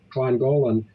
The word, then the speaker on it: Llangollen: It's spelled Llangollen, Clongollen, and they're considered a twin to the world because they love everybody.